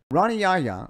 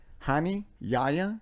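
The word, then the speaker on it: Hani Yahya: Ronnie Yaya, they pronounce it so many different ways. It's Hani Yaya, Ronnie Yaja.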